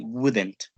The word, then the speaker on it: wouldn't: If you are saying the negative pronunciation, that will be wouldn't. The L, once again, you don't pronounce it.